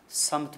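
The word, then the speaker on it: سمت: समत के जो हमारे हिंदुस्तानी ज़बान में सिमत प्रोनाउंस होता है, अदायगी होती है उसकी, जो बहरहाल बहुत ज़्यादा दुरुस्त नहीं है, उसके माना डायरेक्शन के हैं, एक ख़ास गोया एक समत के हैं।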